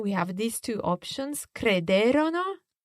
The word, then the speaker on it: crederono: Again, we have these two options, crederono or credettero. Okay, crederono, credettero. But in each case, watch the stress. Esatto. The third last syllable.